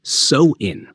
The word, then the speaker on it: Samhain: to the ancient Celtic Festival of samin pronounced soin which marked the end